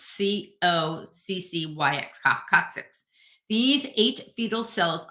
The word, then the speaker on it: coccyx: located at the tailbone or the I can't pronounce this the coccyx it's c o c c y x coccyx these eight fetal cells are created at